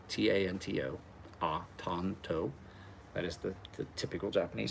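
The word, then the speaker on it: Tanto: Tonto. T-A-N-T-O. Tonto. That is the typical Japanese spelling. A's are not hard A's usually in Japanese, unless you usually throw another letter behind it to make it a hard.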